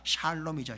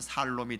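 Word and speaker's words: שָׁלוֹם: 그래서 구약성의 평화란 단어가 샬롬이죠. 샬롬. 많이 들어봤죠? 샬롬을 잘못 발음하면 살롬이 되고 우리가 평화를 얻으면 사는 인생이 되는 거예요.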